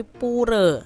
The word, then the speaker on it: Pura: poor adik-adik ya atau kalau orang bali tuh bacanya bukan pura tapi puree ya Nah untuk hari